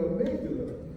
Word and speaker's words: amygdala: I said, yeah, that's it, but you're pronouncing it wrong. It's the amygdala.